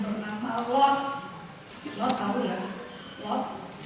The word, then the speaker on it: Lot: Lot bukan pot, Lot. Kalau cara baca Alkitab, ada gitu Lot.